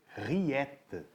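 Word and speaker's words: rillettes: Se escreve riletes, mas se lê riet. é um embutido francês e por conta disso tem essas particularidades na pronúncia.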